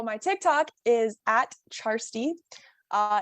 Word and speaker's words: Kjarstie: handles yeah so my tick tock is at charstee uh it's spelled k-a-r-s-t-i-e nobody else has the username so